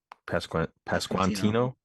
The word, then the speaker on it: Pasquantino: Is it Pasquantino? Pasquantino.